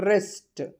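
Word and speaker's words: wrist: ரிஸ்ட். ரிஸ்ட்னா W silent.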